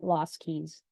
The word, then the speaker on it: LoSCKSS: static copies of websites and I pronounce that lost Keys um so what do